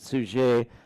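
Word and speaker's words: Suger: Uh you pronounce it suge. I call it suge because I think the final consonant has been dropped over the centuries and perhaps was in place at that time but I really don't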